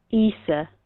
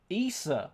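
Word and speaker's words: Æsir: So Norse gods, because as is actually the singular, and Aesir, I'm assuming that's how you say it. Isa. Isa.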